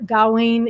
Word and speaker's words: Gawain: really an adaptation of sir gowan and the green knight or gowen if you are from england but i'm gonna stick with the american pronunciation uh and it is